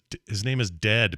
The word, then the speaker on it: Dehd: His name is Dead, but it's spelled DEHD.